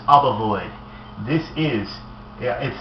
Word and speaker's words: Obovoid: This is called Obovoid or Obovoid. I've heard both pronunciations, but this is Obovoid.